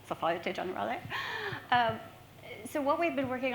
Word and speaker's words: Société Générale: Our other founding members are from HSBC, Standard Charter, Bloomberg, Morgan Stanley, Société Générale, although I've been told I don't pronounce that correctly. Société Générale.